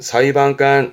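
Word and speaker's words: 裁判官: 사위반관. 사위반간 요런 경우들은 발음이 반대니까 조심을 하셔야 됩니다.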